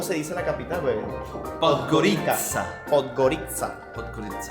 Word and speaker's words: Podgorica: Podgorica. Podgorica. Podgorica. Porque yo me estuve poniendo ahí en español es Podgorica. Podgorica. Podgorica. Pero incluso en español supuestamente debe decir Podgorica.